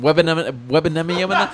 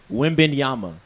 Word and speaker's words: Wembanyama: Webanama. That's like you say. Webanaba. Webanaba. I kept saying Webanama. How you say it? Wembanyama. Wenbanyama. Is it Wemben or What is he? Wembanyama.